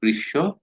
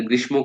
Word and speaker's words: গ্রীষ্ম: এই যে গ্রীষ্ম, এটা গ্রীষ্ম কইেন না কিন্তু, হচ্ছে গ্রীষ্ম।